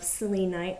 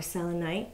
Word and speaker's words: selenite: have a tower of salinite or selenite some people pronounce it differently emphasis in different syllables work with me kids